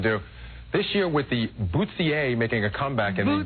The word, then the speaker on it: bustier: Howard, what does the pronunciation guide say? I'm just curious. Bustier.